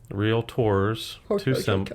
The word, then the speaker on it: Realtor: tricks keeping it real real tours real tours two syllables so yeah yeah so